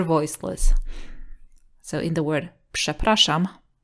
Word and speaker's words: przepraszam: So in the word przepraszam, P is voiceless and Ż becomes voiceless. Sh, psh, przepraszam.